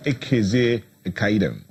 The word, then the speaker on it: Ekezie-Ekaidem: So joining us is Ekezie-Ekaidem.